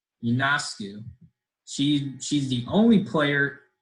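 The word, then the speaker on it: Ionescu: times on ESPN so I figured out how to say it now Yoon asked you she she's the only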